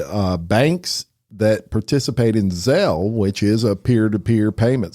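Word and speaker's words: Zelle: pronunciation police I say I used to say Zeal and then somebody told me it was zel oh Lord but the payment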